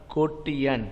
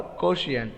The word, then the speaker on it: quotient: answer it's called a ko tian what kotian or quotient okay question is also proper is a proper pronunciation and kotien is also proper pronunciations okay and outside the